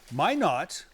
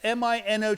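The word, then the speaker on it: Minot: all the way from Mino rhymes with why not my not no that's a French word it's Mi n o t Mino right Mino Mino but they say it's it's pronounced my not all right let's go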